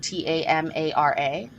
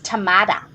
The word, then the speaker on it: Tamara: she spells it like t-a-m-a-r-a and I'm like Tamara or Tamara and she's like it's tamada like with a d and I was like